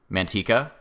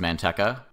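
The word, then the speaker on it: Manteca: correct in the comments as you did with Mantika which I improperly pronounced as manka a few months ago thank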